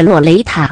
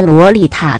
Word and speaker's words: 洛雷塔: 对了，我还是要强调他的读音是洛雷塔没有错，不是洛丽塔的洛丽特。XD 5.